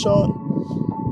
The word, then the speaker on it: Sean: his name is pronounced sean may i say do you see any h in the name i said his name